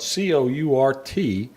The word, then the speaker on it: Courtbouillon: There are a lot of other versions of courtbouillon, which is spelled Courtbouillon. We always just said shrimp courtbouillon. It's kind of pronounced like Courtbouillon.